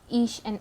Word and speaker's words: Isha: And then you told us about Ish and Aisha, if I'm pronouncing it correctly. Yeah, well, Isha, yeah.